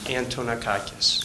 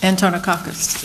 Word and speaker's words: Antonakis: the record I wasn't quite sure how to pronounce it I'm sorry it's antonakis antonakis yes okay thank you um I noticed that